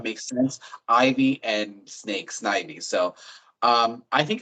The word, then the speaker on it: Snivy: So first, I will say it's Snivy. Nice. But that's okay. Um, Believe me, the way the Pokemon names are pronounced is a big point of contention around the Pokemon community. So say it however you say it. But from the anime and everything like that would be Snivy, like Ivy and Snake, I guess.